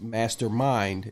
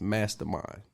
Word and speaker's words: Mastamyn: that's m-a-s-t-a-m-y-n m-a-s-t-a-m-y-n and we spell it different because it means something uh different so it's not mastermind it's mastermind okay and we're also going